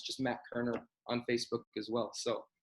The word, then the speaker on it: Koerner: that's where i post everything so just matt kerner music on instagram and facebook and then also my my personal page i post a lot on that it's just matt kerner on facebook as well so um yeah we